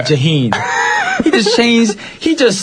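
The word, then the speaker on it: Jhené: the artist jahen Aiko that's jahen yeah it's not Jana I think so why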